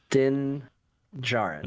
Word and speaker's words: Din Djarin: Din Djarin, but Okay. it's spelled with a quiet D at the end.